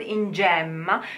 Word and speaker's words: gemma: You have in gemma, the word in gemma. You could also hear native speakers saying, pronouncing it in gemma with close E.